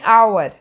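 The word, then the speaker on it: hour: एन आवर, आवर, आवर, तो यहाँ पे ये साउंड वोवल की है, स्टार्ट कॉन्सोनेंट के साथ हो रहा है, साउंड वोवल की है। यहाँ पे एच साइलेंट है, ओ की साउंड आ रही है, इसलिए यहाँ पे आता है एन, एन आर्टिकल।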